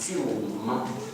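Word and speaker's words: سلم: The word Islam comes from a root in the Arabic, sin, lam, mim, and it's pronounced silm.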